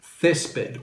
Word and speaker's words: césped: Step two, underline where the emphasis goes. Césped or césped. Césped. So the emphasis goes here.